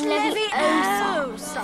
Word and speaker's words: Leviosa: You're saying it wrong. It's Leviosa.